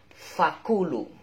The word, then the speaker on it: فَكُلُوا: Tapi bacanya pakai F. Faku. Versi Arab. Faku. Beli apa? Beli faku. Nah, di sini fakulu. Fa, kaf sama lam.